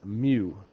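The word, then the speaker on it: μ: okay that is me I think of the Pokemon Mew if you're a Pokemon person um but it's Mew Sigma kind of looks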